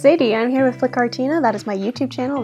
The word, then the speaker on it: Flytte Kartina: I'm here with Flytte Kartina. That is my YouTube channel. That's how it's pronounced.